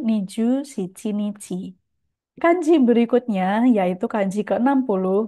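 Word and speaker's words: 二十七日: Yang tanggal 27 sebetulnya dibaca nichi juga sih, tapi di sini saya berikan highlight karena cara bacanya bukan Niju Nana Nichi, melainkan Niju Shichi Nichi.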